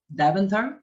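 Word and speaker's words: Deventer: familiar too i'm familiar with the area of daventer is that correct the pronunciation okay yeah definitely uh david uh yeah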